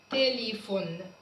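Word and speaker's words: telephone: تليفون. تليفون. برضو البي اتش هنا نطقناها ف.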